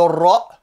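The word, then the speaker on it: ر: Le ra, le R roulé, qui existe dans la langue espagnole par exemple, mais qui n'existe pas dans la langue française.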